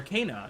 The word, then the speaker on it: Ka: I keep saying the name wrong, but it's Kenna or Kaa. Not Kenna. Ka. It's Ka.